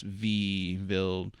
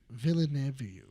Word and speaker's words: Villeneuve: The director for this Dune movie, Denis Villeneuve. Oh, it's like I got you. Denis Villeneuve. That. Yeah. I'll just call him Dennis. Dennis V. Villeneuve.